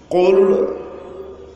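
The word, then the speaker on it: قل: কুল কুল আউযু কুল আউযু বিরব্বিল ফালাক কুল কাফ দিয়ে উচ্চারণ কুল, এই কুল এখানে যদি কেউ বলে কুল ছোট কাপ দিয়া, তাহলে কি এটা আর কোরআন থাকবো?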